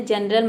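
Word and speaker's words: general: जेंटल मतलब होता है सजन, जनरल मतलब होता है सामान्य। तो इन तीनों में से कोई भी लेटर अगर आता है तो वहाँ पे जी को हमें क्या प्रोनाउंस करना है, ज प्रोनाउंस करना है, जैसे कि आपने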